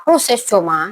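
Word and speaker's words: προσεύχομαι: Kalau kita kupas dari bahasa aslinya Yunani, dari kata Yunani proses C, dari kata proses coma, ya. Itu kayak cara bacanya gitu ya.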